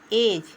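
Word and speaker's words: edge: से पहले डी आ गया तो डी नहीं उच्चारण करेंगे ब्रिज बोलेंगे ब्रिज ब्रिज मींस पूल उसी तरह से ई डी जी ई एज एज मींस किनारा उसी तरह से एच ई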